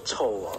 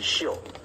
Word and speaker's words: 臭: 秀如兰，这个应该不能念作臭哦，这个是秀，秀是气